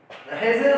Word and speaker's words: Hegel: हेजेल का देखो यहाँ पर स्पेलिंग थोड़ा HEGEL होता है, ठीक है।